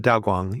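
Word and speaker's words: Daoguang: Is that how you pronounce it? Yeah, Daw Guang.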